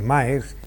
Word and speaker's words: Maersk: sumamente contento de que Maersk, que no es marxista, porque cuando lo pronunciamos puede pensar alguien que es marxista, que es comunista, que es filoetarra o que es socialista, ¿no?